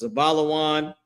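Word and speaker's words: זבולון: In Hebrew, their name is pronounced Zabalawan.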